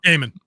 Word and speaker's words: Gaiman: Gaiman. G-A-Y. It's A-I, but A-Y is phonetic.